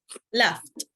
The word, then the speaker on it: laughed: Now here it's important, the T pronunciation. Loud. Laughed.